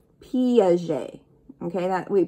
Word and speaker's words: Piaget: um swiss right so we want to think of target but tarjay piaget okay that we pronounce it a little bit differently than we see it not piguet piaget john piaget swiss